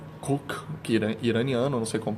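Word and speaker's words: Khook: O outro filme, que é o Cook, Cook, que iraniano, não sei como pronunciar. Eles pronunciam o H como se fosse meio aspirado, como se fosse um R.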